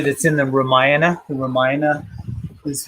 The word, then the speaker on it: Ramayana: The Ramayana is how that's pronounced.